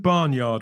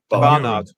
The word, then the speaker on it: Barnard: Aneurin Barnyard, was it? Barnard. Yeah, Barnard. Okay, I'm huge going to remember talent.